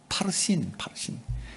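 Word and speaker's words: parsin: 그러니까 바르신이에요. 원어대로 발음하면 파르신. 이 파르신은 쪼갠다는 거예요.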